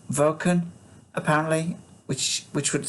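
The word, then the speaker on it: Wacken: the name of this german town i was pronouncing it wacon which sounds like waco um but it is actually pronounced vulcan apparently which which would sound v okay en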